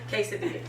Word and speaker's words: quesadilla: and then still have, you know, like everybody pronounce it different. What is it? Quesadilla? Quesadilla? Yeah, you said it right. Quesadilla.